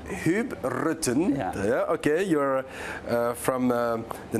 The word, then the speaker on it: Huub Rutten: Do I pronounce it correctly? Yeah, RUTTEN? Huub RUTTEN. Huub RUTTEN.